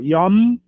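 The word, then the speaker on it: יום: Sempre juntando os lábios no final. Yom é a palavra dia,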